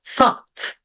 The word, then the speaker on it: thought: parecidas como então aqui vou pronunciar o ou a letra o u como o thought thought aqui eu não tenho a letter t no final e veja como muda o som though though aqui fica thought aqui